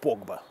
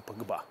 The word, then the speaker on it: Погба: Они никогда не ставят ударение на последний слог. Ну, они говорят, например, «Погба», а не «Погба», как его надо называть.